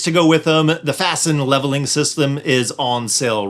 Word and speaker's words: Fasten: Next up is the Fasten leveling blocks. So apparently I've said it wrong in the past. I call them the Fast 10 leveling blocks. They're fast to use. There's 10 of them, Fast 10.